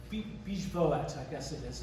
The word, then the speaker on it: Bijvoet: Biovet, this is what I think is the most important house, my favorite house in the world in Paris.